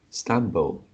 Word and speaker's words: stumble: Okay, first line, this one, because it is the phonetic symbol is L at the end, so it is like stumble, Stumble, stumble.